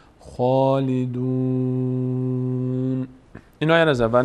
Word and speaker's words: خالدون: خواندن خا فرقش چیه خالیدون خالیدون خالیدون اشتباست این خا رو ما باید پر بخونیم میشه چی خالدون این آیه رو از